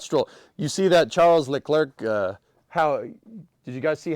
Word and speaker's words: Leclerc: It's pronounced Leclerc. Yeah. Yeah, dude, all that's going to do is just make me want to say it wrong more. So now it's Legruck.